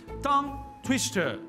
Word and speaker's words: tongue twister: Ao dividirmos essa palavra em sílabas, nós podemos ver que ambas as palavras têm apenas uma sílaba na língua inglesa.